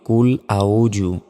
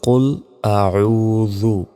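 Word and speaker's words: قل أعوذ: আউজু আমরা অনেকে বলি কুল আউজু আউজু এভাবে বললে সম্পূর্ণ এটা ভুল হবে বলতে হবে কুল আউজু জাল অক্ষর আসলে জি বের করে উচ্চারণ করতে হয় বা জের বি রব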